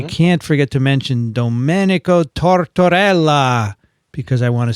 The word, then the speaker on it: Tortorella: And we can't forget to mention Domenico Tortorella, because I want to say his name.